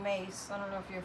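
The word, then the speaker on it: Myss: And Carolyn Mace, if you want to look her up, it's C-A-R-O-L-I-N-E, and her last name is spelled M like Mary, Y-S-S.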